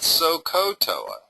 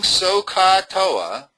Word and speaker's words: SOHCAHTOA: And make sure when you remember SOHCAHTOA, it's not SOHCAHTOA. It's SOHCA. You kind of almost have to remember the pronunciation is ka because it's C-A-H, not C-O-H.